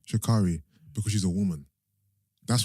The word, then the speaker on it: Sha'Carri: Do you know how you pronounce her name? Sha'Carri. Sha'Carri.